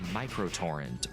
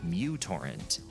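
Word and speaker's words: µTorrent: technically micro torrent or mutor torrent. The name of the letter in the Greek alphabet. But because this letter at the beginning of the word resembles a u, people just started calling it that.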